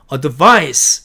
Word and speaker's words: advice: A번 advice, 이렇게 철자한 말은 advice 이렇게 발음하고 명사로서 충고라는 뜻이고요. advise 이렇게 se로 끝나면요, advise라고 읽고 동사로서 충고하다라는 뜻으로 쓰인 말이 됩니다.